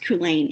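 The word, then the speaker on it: Culzean: movie is associated but it's pronounced kulen it's a c-u-l-d-e-a-n go figure all right thank you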